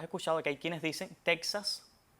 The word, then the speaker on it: Texas: Y esta X suena entonces como J en esos tres topónimos arcaizantes, o sea, topónimos que en un pasado mantuvieron esa X etimológica y su pronunciación es como J.